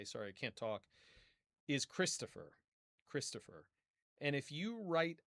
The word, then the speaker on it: Christopher: Think about how the O is pronounced in regular speech. You know, regular uh you know, speech at regular speed. And how is the E pronounced, Christopher? Both the O and the E reduce. They become reduced vowels. And that's kind of what the schwa is. It represents vowel reduction.